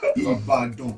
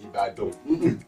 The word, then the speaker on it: Ibadan: Ibadan. Ibadan.